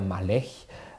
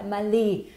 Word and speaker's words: Maleh: Syrien und das, also korrekt ausgesprochen heiße ich Malech. Malech, also Malech. Das heißt, aber damit also, die Leute nicht das Gefühl haben, sie müssen schreiben, wenn sie meinen Namen aussprechen, Malé. Ja, also Malé.